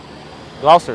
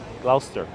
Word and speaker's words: Gloucester: i don't know and b griffin says it's uh pronounced gloucester gloucester thank you gloucester i don't know what